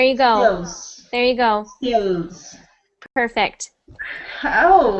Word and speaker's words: Stills: gos there you go Stills perfect oh it's because that the people don't understand me maybe maybe because if you ever said yes I am steel that sounds like you are saying steel like the metal there is